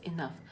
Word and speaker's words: enough: in now or not as enough energy we pronounce it as enough this means a number of times we do